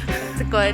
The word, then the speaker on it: Betws-y-Coed: Betws-y-Coed. Betws-y-Coed, is that how you say it? Yeah. Betws-y-Coed.